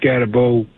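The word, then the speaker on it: Skattebo: I'm really curious what you think about Cam Scatterabo. And I pronounced that wrong.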